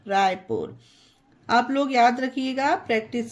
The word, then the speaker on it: Raipur: RAIPUR रायपुर, इसे राय पर नहीं जय पर नहीं पढ़ा जाएगा। पुल, पुश, पुट, पुस, जयपुर, रायपुर।